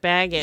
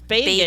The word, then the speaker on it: Bagans: I thought it was Zak Bagans. Yeah. But it's not? Like Bilbo Baggins. It's Bagans. It's Bagans. Yeah, but okay. he pronounces Yeah, the that's how he said bag it. part like people in North Dakota say bag.